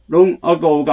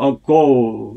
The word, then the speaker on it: ago: 그 다음에 long ago가 아니라 ago. 여기 뒤에 o의 발음이 액센트가 붙어요.